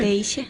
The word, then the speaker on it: Kreischer: Comigo na bancada de entrevistas da Rádio Bom Jesus estão as minhas convidadas Paula Kreischer, é assim mesmo a pronúncia? Kreischer.